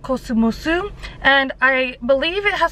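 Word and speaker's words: コスモス: So today we are at a drugstore called Cosmos, but here it's pronounced Kosumosu, and I believe it has something to do with like the cosmos, like in the sky.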